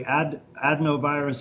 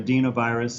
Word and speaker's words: adenovirus: So that's basically adenovirus or adenovirus, it's pronounced both ways, is another common type of virus that's associated with the common cold, just like coronaviruses are.